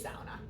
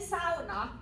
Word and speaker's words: sauna: And, how many of you have actually experienced a Finnish sauna? So I'm saying sauna. A lot of Americans know it as sauna.